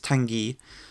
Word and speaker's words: Tanguy: It's Tanguy.